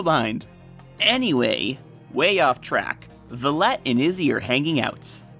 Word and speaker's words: Violette: how to pronounce violette, because clearly in my good old American English, that word right there is violet. But because they specifically added the ETTE ending, the word is now French, which would make the pronunciation more like violette.